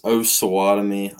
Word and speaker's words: Osawatomie: It's Osawatomie, Osawatomie.